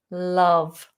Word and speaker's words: love: word you asked for was the word love love um the vowel in this one is a